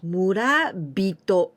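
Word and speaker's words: 村人: And here we pronounce murabito, not hito, but with tenten.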